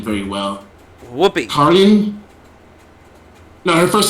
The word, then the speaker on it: Caryn: Karyan? No, her first name is Karyan. How do you say that? Karyan. Karyan? Karyan. Ellen Johnson? It's Caryn.